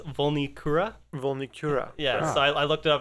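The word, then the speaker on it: Vulnicura: i looked it up the pronunciation for that album is volnikura yes i looked it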